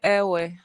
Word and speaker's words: Ewe: In my turn, I would say airway.